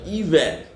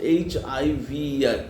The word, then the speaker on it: hiver: Then winter, hiver. H is not pronounced, H-I-V-E-R, hiver.